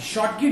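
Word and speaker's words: Schottky: According दे दिया, मतलब शॉटकी और फ्रेंकल डिफेक्ट। प्रोनाउंसिएशन इसका सही रखिएगा, शॉटकी, शॉटकी, शॉटकी मत पढ़ दीजिएगा। शॉटकी इज the correct pronunciation of this word, शॉटकी एंड the Frenkel defect.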